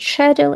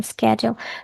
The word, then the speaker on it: schedule: So, schedule is pronounced differently in British and American English. In British, it's schedule, in American, schedule. They are both correct. All you need is just to be consistent.